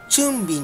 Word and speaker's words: 春餅: の日にこれ春餅と書いてチュンビンて言うんですけれども